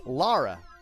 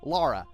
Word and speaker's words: Lara: L A R A however due to how her name is pronounced and well more importantly how L's and rs are pronounced in the Japanese language that wasn't as obvious to Japanese players who did not know English so for all they know Lara's name could have been Lala or rala or Raa just because